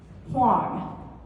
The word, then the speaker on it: Wang: on my last name Wang it's pronounced like Wong but with an H in front of it okay it rhymes with strong and so so that